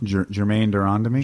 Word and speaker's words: Germaine de Randamie: Germaine de Randamie Germaine de Randamie They took the belt off her.